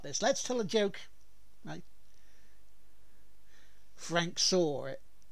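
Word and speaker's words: Frank Sahwit: before we start this let's tell a joke Frank saw it Frank saw it yes yes that's that that's the pronunciation of course he saw it [ __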